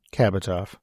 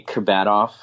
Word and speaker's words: Kabatoff: So it is actually Kabatoff. I grew up with Kabatoff. And when I go back home, I say Kabatoff. But to everybody I introduce myself to as Kabatoff because it's spelt that way. It reads that way.